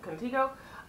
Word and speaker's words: Contigo: Next way you pronounce it, Contigo.